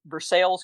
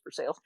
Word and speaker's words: Versailles: and headed off to versailles kentucky which is how we pronounce it it looks like versailles but it's for sale if there was this